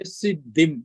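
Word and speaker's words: सिद्धिम्: We will just say siddhim like that.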